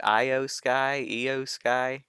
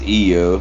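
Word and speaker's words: IYO SKY: Io Sky, and Dakota Kai. I think it's EO. Io Sky. I believe so.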